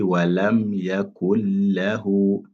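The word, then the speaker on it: وَلَمْ يَكُنْ لَهُ: Regardez sur la lettre lam, on a un shadda. Donc ça montre que la lettre nun, on ne doit pas prononcer ça. Qu'est-ce qu'on dit? On dit walam yakul lahu, walam yakul lahu, walam yakul lahu.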